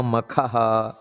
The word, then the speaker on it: ಮಖ: ಅವನೇ ತಾನೇ ಮುಂದಿನದ್ದು ಮಹಾ ಮಖಹ ಅಂತ ಕರೆಯಲ್ಪಡುತ್ತದೆ ಇಲ್ಲಿ ನಮಸ್ಕಾರ ಮಾಡಬೇಕಾದರೆ ಮಹಾ ಮಖಾಯ ನಮಃ ನೋಡಿ ಮಕ ಅಲ್ಲ ಮಕ ಅಲ್ಲ ಮಖ ಮಹಾಪ್ರಾಣ ಯಾಕೆ ಭಗವಂತನನ್ನ ಮಹಾಮಖ ಅಂತ